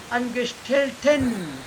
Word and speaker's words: Angestellten: This A is not pronounced, but this A is more pronounced. Angestellten.